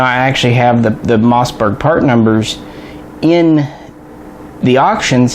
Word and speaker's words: Mossberg: of new products from Mossberg or as my father always called them as I was growing up Massenburg seriously I thought there was an extra like syllable that word for 20 years because of him